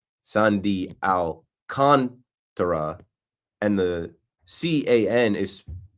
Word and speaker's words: Alcantara: shows you like Sandy Alcantara, and the C-A-N is spelled K-O-N, capital letters for the emphasis. Sandy Alcantara, not Contra, not Alcantara, Sandy Alcantara.